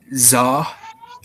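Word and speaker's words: ظ: Za. It's pronounced za.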